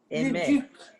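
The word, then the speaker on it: Aimée: Aimé.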